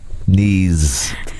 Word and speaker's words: knees: a joke knees Ron knees knees silent k yeah I'm so glad